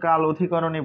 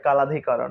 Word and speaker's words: কাল অধিকরণ: নাম হচ্ছে কাল অধিকরণ এটার আসলে আমরা কাল অধিকরণই বলি কিন্তু এমনি উচ্চারণ মনে হয় কালধিকরণ হ্যাঁ এরপর দেখি আমরা